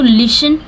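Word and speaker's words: listen: ठीक है देख तो लिसन लिसन में टी साइलेंट रहता है अब देखि इट इज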